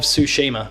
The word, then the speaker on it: Tsushima: as Paris games week announced the ghost of Tsushima is the next game and notice I'm saying